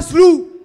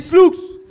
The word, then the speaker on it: Sloux: On dit pas Slou, on dit Slooks.